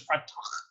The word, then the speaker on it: Freytag: Talk about how the Freytag is set up. So the Freytag is basically based upon a pyramid. It's actually, the correct pronunciation is Freytag. It's a German individual.